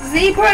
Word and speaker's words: zebra: This is Zebra one. No. Is it Zebra or Zebra? Zebra. Zebra if you're American. But because we're British, as the Americans say, we say zebra.